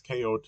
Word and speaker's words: Kot: KOT is pronounced Kot, um, and that's actually a word of Arabic origin meaning fort.